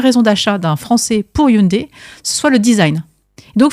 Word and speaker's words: Hyundai: Donc déjà on dit pas Hyundai, on dit Hyundai hein.